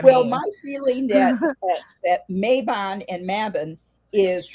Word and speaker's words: Mabon: It was Mabon as in Mabon.